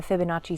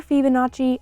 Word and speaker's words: Fibonacci: idea of using the Fibonacci spiral or Fibonacci I've heard it both ways and I do flip-flop